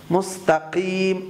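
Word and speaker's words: مستقيم: মুস্তাকিম শব্দটা এখানে কফ, কফটা একটু শক্ত করে কফ এইভাবে, আর মুরগি ডাকে অনেক সময় আকি, এই শব্দ করে কফ, মুস্তাকিম, আক এক উক, কফ এইভাবে উচ্চারণ করতে হয়, মুস্তাকিম আমরা এইভাবে উচ্চারণ করব, ইহদিনাস সিরাতাল মুস্তাকিম।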